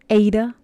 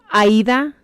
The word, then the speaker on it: Aida: Ada? Sorry, Aida is the name of my best friend, and it is spelled like Ada.